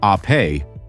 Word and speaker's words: Ape: This is the Vespa Ape, pronounced ah-pay, which means bee in Italian, just as Vespa means wasp.